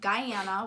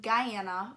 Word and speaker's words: Guyana: A lot of people think that I say it wrong and that I mean to say Ghana, and I do not. I mean Guyana, which is in South America.